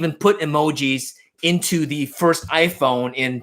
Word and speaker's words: emoji: So emoji, which is how you pronounce in Japanese, was invented in the